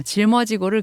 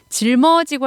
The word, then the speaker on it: 짊어지고: 베이스캠프장으로 출발하렵니다 아 아쉽네요 짊어지고를 그냥 미음으로 쓰셨는데 짊어지고 할 땐 발음상 질 뭐 잖아요 그 리을 미음의 미음이 뒤로 붙는 거기 때문에 짊어지고라고 발음을 하는 거거든요 짊어지고 리을 미음 받침인거